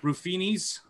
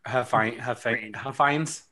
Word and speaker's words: Huffines: Rufinis, is that how you say it? Rufinis. It's our Huffines.